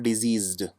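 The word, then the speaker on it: diseased: इनके उच्चारण में थोड़ा सा फर्क है, डिसीज्ड और डिजीज्ड। ज साउंड आता है इसमें। इसकी आपको प्रैक्टिस करनी पड़ेगी इस तरह से बोलने की, जिससे आपका उच्चारण सही हो सके।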